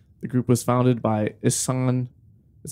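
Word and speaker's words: Ihsahn: the group was founded by issan is how you say his name uh well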